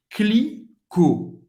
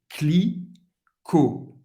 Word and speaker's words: Clicquot: Clicquot. Clicquot. O T não vai ser pronunciado.